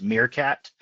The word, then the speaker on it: Meerkat: And also the product that we designed in-house is pronounced Meerkat, like the little animal, but that's okay.